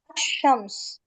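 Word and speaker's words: الشمس: லேமை உச்சரிக்க கூடாது அதான் இதை சொல்லும்போதே எப்படி சொல்லுவாங்க அஷ்ஷம்ஸ் அஷ்ஷம்ஸ் சரியா அப்போ ஷம்சியானா லேமை உச்சரிக்க கூடாது அதை ஞாபகத்துல வச்சுக்கோங்க இதுக்கு அப்படியே ஆப்போசிட்னா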